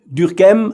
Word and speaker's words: Durkheim: Durkheim, I try to pronounce his name the French way, but maybe I will forget it later and give it a more German sound.